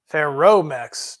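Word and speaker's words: Ferromex: say something they lied it's pronounced ferromax just roll the r well I can't I'm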